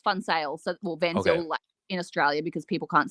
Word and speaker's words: Van Zyl: touches it yeah so um so it's actually pronounced fun sales in Australia because people can't save on sale